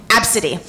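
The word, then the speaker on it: ABCDE: And let me spell that for you. That is A, B, C, D, E. Absidy.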